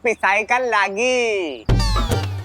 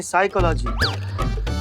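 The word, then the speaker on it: psychology: पापा हम तो करते पिसाई का लागी साइकोलॉजी नहीं साइकोलॉजी प साइलेंट होता है तुम हो जाओ साइलेंट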